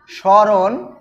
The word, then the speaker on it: স্মরণ: রয়েছে কি ম টা এই ম এর উচ্চারণটা কিন্তু হয় না আমরা যদি উচ্চারণ করি তাহলে স্বরণে উচ্চারণ করলে কি হবে স রণ আবার লিখতে